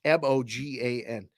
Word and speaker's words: Mogan: his name been pronounced Morgan because it's m o g an there's no R though it's just Mogan 615 Nashville Tennessee that's